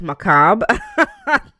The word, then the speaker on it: macabre: I didn't know it was going to be pronounced macabre. That's interesting. So the RE is just silent.